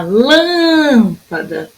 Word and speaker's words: lâmpada: Na lâmpada, lã.